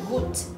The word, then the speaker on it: Gut: But I think this word is pronounced like gout . Gut . So maybe good .